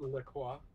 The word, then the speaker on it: LaCroix: It's pronounced Le Croix.